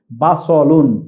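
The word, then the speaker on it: بصل: শব্দটি আমরা এটা কিন্তু এই যে দন্তস লিখেছি এটি সিন নয় এটি সদ এখানে আমরা দেখছি বা সদের উপর জবর রয়েছে তাহলে আমরা উচ্চারণটি করব বা সলুন আমি আবার আপনাদেরকে দেখি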